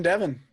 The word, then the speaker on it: Devin: really seven and eleven because they both rhyme with my name seven eleven devin mm-hmm maybe go in